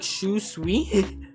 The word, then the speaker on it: Shunsui: It sounds like Shu Sui. Very close. Shun and then Sui.